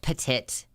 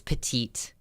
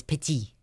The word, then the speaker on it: petite: master electrician for sure it's not pronounced Petit it's petite petite if you're being technical it's pity putting three kids through college